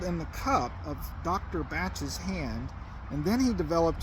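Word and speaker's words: Bach: He pronounced it batch. But I didn't.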